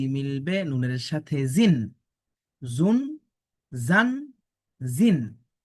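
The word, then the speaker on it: ز: দেখুন যা অক্ষর সামনের নিচের দুই দাঁতের আগা থেকে শীষ দিয়ে পড়তে হয়।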